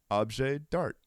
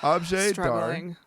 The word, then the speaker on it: objet d'art: The words of today are objet d'art. Objet d'art. Objet d'art. Objet d'art. Are you actually supposed to pronounce the last T?